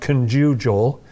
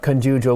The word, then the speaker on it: conjugal: we were talking about conjugal love, and we have people in the comments saying it's pronounced conjugal. They think that we're just mispronouncing, we're putting the wrong emphasis.